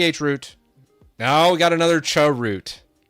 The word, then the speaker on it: chroot: I'm saying chroot. No, we got another chroot. Prime calls it chiroot. Damn it, Prime. Stop smoking that devil's lettuce. Ch root is the proper way to say it, guys.